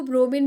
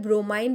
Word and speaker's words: bromine: Dear students, को ब्रोमीन भी बुलाते हैं, ब्रोमाइन भी बुलाते हैं. इट्स not making any sense over there, you can pronounce it any like this.